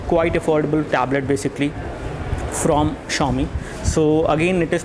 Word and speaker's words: Xiaomi: a tablet uh quite affordable tablet basically from xiaomi so again it is pronounced at xiaomi not zi anyways let's go ahead and take a look